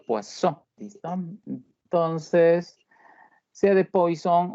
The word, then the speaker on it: Poisson: probabilidad de Poisson, como se escribe, pero se pronuncia Poisson, ¿listo? Entonces, sea de Poisson o se pronuncie bien como Poisson, es la distribución que nosotros vamos a desarrollar.